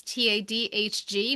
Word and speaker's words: Tadhg: So we have Tag I think I'm saying it right. It's Tadhg, Murphy.